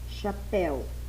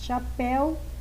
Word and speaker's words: chapéu: palavras chapéu e comeu embora as duas palavras terminem com as vogais e e u em Chapéu a letra e tem som aberto e em comeu a letra e tem um som fechado e E quanto a